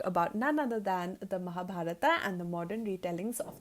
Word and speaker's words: Mahabharata: to it as the Mahabharata we call it the Mahabharat but I would say Mahabharata because it's the English pronunciation and the a is stressed so the Mahabharata is the book that